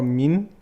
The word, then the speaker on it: Min: But the proper pronunciation would be just purely men or min?